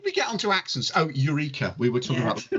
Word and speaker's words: Eureka: It's definitely pronounced Eureka, isn't it? Back me up on this, Chris. Eureka, darling. English lessons is Eureka. Thank you. But in ancient Greek is Eureka.